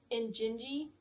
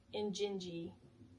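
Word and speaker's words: Injinji: I think it's pronounced in Injingi. I N J I N J I in gingi I think is how you pronounce it.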